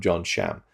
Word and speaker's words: John Sham: The interview with John Sham, I've heard his name pronounced as John Shum, but he introduced himself in that interview as, "Hi, I'm John Sham," and his English is very good.